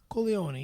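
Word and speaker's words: Corleone: Is that how they pronounce in Italian? Kolion. Yes.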